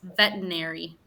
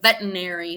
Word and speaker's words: veterinary: have like a little Veterinary Veterinary Veterinary okay so it's spelled the ternary um but Mary Veterinary okay I think it's almost like we don't pronounce one entire syllable in the in the